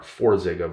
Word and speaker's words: Forxiga: border but in one it's spelt f a r and the other one is f or four zega versus far zega same drug different name